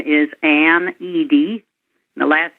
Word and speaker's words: Edie: probably you all know my name is an ed the last name is spelled e d i e people get that